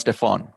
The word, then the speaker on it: Stephen: you know his name stephen stephen curry is what i thought is uh so s-t-e-p-h-e-n is actually pronounced stefan and stefan is his